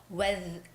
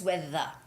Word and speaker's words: weather: read the word weather it's not what whether it's weather i i hear some japanese people say like j sound but it's gotta be weather you have to stick out your tongue weather forecast um finally